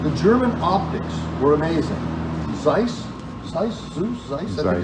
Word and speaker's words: Zeiss: Zeiss, I think it's the pronunciation. Zeiss.